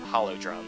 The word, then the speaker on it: Holodrum: I mentioned it but this land's called Hollow drum or at least I've always pronounced that Hollywood um if there's a different way to pronounce it um wake a Canon way to pronounce it yeah that's the best way to say it I know I don't know I like Hollow drums because it's like a hollow drum and drumser already um